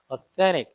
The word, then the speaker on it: authentic: 민조 가죽이 아니라 진짜 가죽을 사용했다라고 할 때는 이렇게 authentic leather 이렇게 표현하는 경우가 있는데 authentic은 N 다음에 T 발음이 미국식 발음으로 잘 생략되니까 authentic 이렇게 읽는 경우도 있습니다.